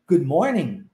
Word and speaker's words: morning: letras em uma palavra o g não é pronunciado então morning para-se no n o o g é